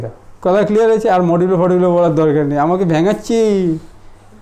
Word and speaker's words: মডিউলো: প্রথমে এই ফর্মের উচ্চারণ করো। না মডিউলো 4 ভুল বলেছে, মডিউলো 4 হবে, ঠিক আছে না পিয়ালে, মডিউলো 4।